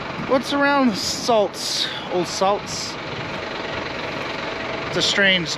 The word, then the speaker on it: Saldus: around the salts old salts strange name it's a 13th century old word um that's how you say it s-a-l-d-u-s salts okay let's see what